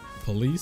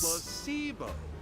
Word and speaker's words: placebo: Is it police? Placebo. I was close. The stress is on the middle syllable.